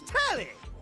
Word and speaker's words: Telly: Or The name's Telly. Rhymes with Nelly.